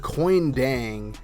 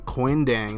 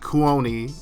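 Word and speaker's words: Kuony Deng: to get cal linebacker coin dang and i checked that's how you pronounce his name quindang not cooloney is coin he's a 69 overall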